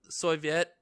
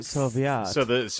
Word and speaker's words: Soviet: But it mostly covers American and Soviet experimentation into the consequences of these of the LSD experimentation.